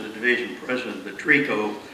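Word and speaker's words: tricot: division president of the TRICO. By the way, TRICO is spelled T-R-I-C-O-T, and that just means lingerie.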